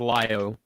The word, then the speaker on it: Lio: at Lio Convoy, and it's pronounced Lio, guys. Just saying. Yeah, it's always been. Yeah. Yeah. I said Leo in the beginning, but that's because you don't.